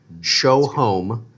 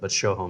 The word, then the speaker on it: Sjoholm: But if you want to say it correctly, if you change the J to an H, Sjoholm, like you're showing a home, Sjoholm.